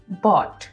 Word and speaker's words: bought: जैसे एग्जाम्पल्स हैं BOUGHT बॉट। अब हमने GH लगाया लेकिन उसकी साउंड बिल्कुल नहीं आएगी।